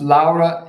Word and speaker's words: Laura: As a proud father, my daughter Laura, pronounced Laura in Italy, Laura Silvia, has obtained her degree in international relations.